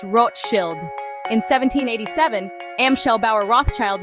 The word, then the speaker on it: Rothschild: In German, the name is spelled Rothschild and is pronounced Roth Shield.